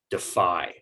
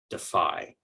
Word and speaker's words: defy: the second is that this is a verb and so we're going to give more stress to that second syllable and it will keep the long i sound instead of switching to a long e defy defy right we talked about a